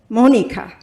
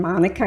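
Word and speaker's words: Monika: So in German that's pronounced Monica and my name Gita is pronounced Gita. Okay. But once we hit the states it's been Monica and Gita or as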